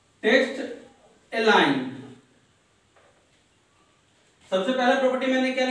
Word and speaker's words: align: बहुत लोग इसे एलिग्न पढ़ लेते हैं, तो एलिग्न नहीं, अलाइन, जी साइलेंट है, यहां पे ध्यान समझिएगा, जी जो आपका है लेटर ये साइलेंट है, तो अलाइन पढ़ते हैं हम इसे।